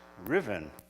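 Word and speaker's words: Ruthven: Robin is really sir Riven Murgatroyd in disguise by the way that name Riven it's spelled r-u-t-h-v-e-n Usman maybe but it's pronounced Riven why cool all right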